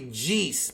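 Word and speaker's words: Jeice: is supposed to be his name is supposed to be jeez but they called him jace for some reason in the in the dub but it's jeez yeah and then ginny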